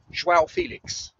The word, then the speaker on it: João Félix: I think he's been given to the returning João Félix, to give him his proper pronunciation.